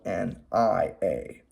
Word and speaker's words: nia: There's one spelled N-Y-A, pronounced Nia, and another spelled N-I-A, pronounced Nia.